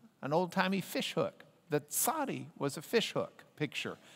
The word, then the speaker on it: tsadi: Our other letter for today is the tsadi. Pronounce the T and the Z.